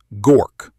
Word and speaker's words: Gork: Gork. One syllable. Hard G.